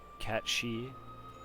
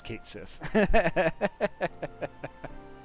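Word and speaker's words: Cait Sith: war of the magi technically it's pronounced cat she and just means fairy cat interesting but i'm pretty sure everyone just says kate siff well i mean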